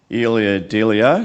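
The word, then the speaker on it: Ilia Delio: It's based around the poem or from Elia Delio. Is that how you pronounce it?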